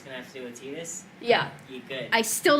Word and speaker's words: Tidus: No one knew how to pronounce his name, and then Kingdom Hearts came out. And then Waka's like, hey, Tidus and me, man, are gonna go play some Blitzball. And everyone was like, it's Tidus!